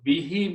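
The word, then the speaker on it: بِهِ: And when we recite in the tajweed, to make it easy on the tongue, we pronounce this dhamma as a kasra. Meaning does not change. So bihi means with it or by it.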